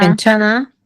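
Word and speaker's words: 괜찮아: Enlace, enlace. Enlace y eliminación. O sea, hay dos doble. Está laalización que se elimina la J también está la N que se enlaza con la A. ¿Ven? Doble regla. Entonces, ¿cómo se pronuncia? Quenchana.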